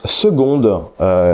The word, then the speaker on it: seconde: envie de te demander pourquoi on prononce seconde qui s'écrit pas avec un G bon l'intro était déjà